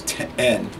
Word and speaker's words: ten: And people in the South have a tendency to pronounce it like 10, like a tin roof. I scored a tin can, but it's ten.